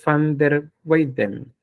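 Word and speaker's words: Van der Weyden: lo saben el este esta palabra no se pronuncia van se pronuncia F Entonces es Roger vaner weiden Cuando vean Ustedes bango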